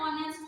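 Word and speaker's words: honest: जो vowel sound है उसमें मैंने आपको बताया था कि अगर ऑनेस्ट लिखा हुआ है तो ये एक एन ऑनेस्ट होगा, बताया था, एन होगा आपका साइलेंट।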